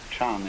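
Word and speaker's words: 禪: word Jana and so this is being pronounced Chan in Chinese and then in Japanese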